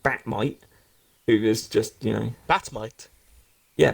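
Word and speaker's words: Bat-Mite: idolizes Batman, but he's an interdimensional, character, and he calls himself Batmite. So, So is this spelled like Might or MITE? no, like Mite. Marmite? Oh, so like Marmite. Yeah, like Batmite. Okay.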